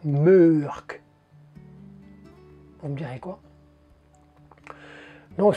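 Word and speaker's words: Mørck: je crois bien, hein, le O avec une barre, ou la barre comme ça. Je vais essayer de vous le mettre là. Ça se prononce E. Donc, l'inspecteur Mork, c'est l'inspecteur Murk.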